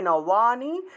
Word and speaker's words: नवानि: अन्यानि दन्त्य नशे जफला থাকায় নিয় উচ্চারণ, अन्यानि संयाति नवानि, নবানি আছে উচ্চারণ হবে নওয়ানি, নওয়া, বয়ের উচ্চারণটা হলো ওয়া, নওয়ানি নওয়ানি দেহি, নওয়ানি দেহি, এইভাবে, ঠিক আছে?